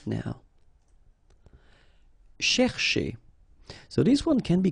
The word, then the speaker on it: chercher: So this first part here, C-H-E-R, you will pronounce it quite open, so it's cher, cher. Okay, and then here, just because you've got this er at the end, okay, if you remember, the rule goes like er at the end will be pronounced e. Okay, so you get che. All right, so cher, che, chercher. Okay, and the difficulty normally is, well, also in the repetition of ch. Okay, chercher, chercher.